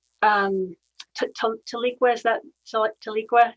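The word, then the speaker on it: Tahlequah: to leak where's that taliqua is that the right pronunciation that's it it was called um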